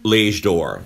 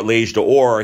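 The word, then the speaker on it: L'Âge d'Or: L'Age d'Or, the Golden Age.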